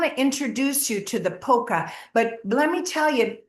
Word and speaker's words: POCA: let me tell you, it's a what is that called? An acronym, right? POCA. It stands for something. Did you realize that? Because it's not spelled like polka dot or polka dance. It stands for preview of coming attractions.